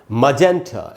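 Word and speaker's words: magenta: तो ये है दोस्तों मजेंटा, ऐसे बोलना है मजेंटा। मजेन में जो ए में जो जय में जो ए है वहीं पर रुकना है, मजेन।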